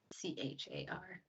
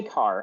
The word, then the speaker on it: char: what's underneath says is that how you pronounce c-h-a-r yes i say car i don't say char because it makes me sound like a charmander it's spelled char don't some people say care people say care yeah